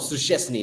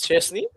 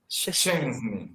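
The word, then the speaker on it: Szczęsny: Supuestamente es como suesni, ¿no? No es Shesny, no es suesni, una cosa así. Shens.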